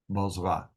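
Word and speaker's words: Bozrah: are uh Z of bosra and he reigned in his place now bosra is an interesting place and the bee has a doggish so it's pronounced with a B bz bzra uh another name for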